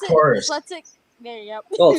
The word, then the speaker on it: Taurus: Yeah, that's tortoise. Whatever it's called, I can't pronounce it. Taurus.